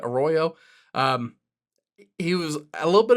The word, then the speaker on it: Arroyo: They took the really talented tight end out of Miami, Elijah Arroyo, I believe is how you pronounce that, Arroyo.